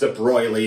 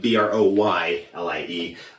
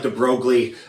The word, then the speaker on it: de Broglie: And one more thing, he was, what is it, Belgian, I think, and it's properly pronounced de Broglie, like Broylie. It looks like de Broglie, but that is not